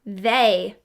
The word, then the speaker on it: they: How about this word, they? This one's familiar to us too. What do you remember? Yes, we hear the long A sound, but it's using the letter E.